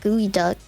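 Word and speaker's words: geoduck: It was a ge o du c. It's pronounced like gooey duck.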